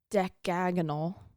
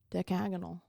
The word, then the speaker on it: decagonal: Uh oh, something else that's interesting is the watch room and the lantern room were um how do you pronounce this? Deagonal. Decagonal.